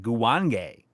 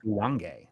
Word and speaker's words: Guwange: Ashura with $1.99 saying Guwange. Seriously. That is it's how pronounced Guwange. I mean Not Guwang. that It's Guwange. that feels right.